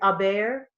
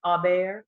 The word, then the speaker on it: Aubert: It's Aubert. I didn't even notice. Sorry. Like you're I messed totally it up the fine. first time, but it's Aubert.